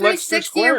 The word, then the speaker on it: Leicester Square: Pronounce it right. It's called Leicester Square.